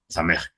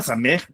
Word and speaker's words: samej: El número 60 se asocia a una letra que se le llama same, ¿no? Se escribe así. S a eh me samej, ¿no?